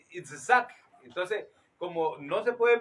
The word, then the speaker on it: Itzhak: Los nombres tienen su pronunciación en hebreo y según el sonido, según los fonemas, los traductores trataron de darle algo parecido. Por lo menos Salomón es Shlomo, Isaac es Itzhak.